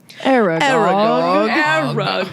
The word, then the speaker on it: Aragog: Aragog.